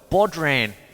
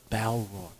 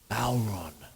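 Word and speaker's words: bodhrán: It's spelled like Bodran." Oh, I really like the sound of the Bodran until No, no, no. It's Balon. Balon.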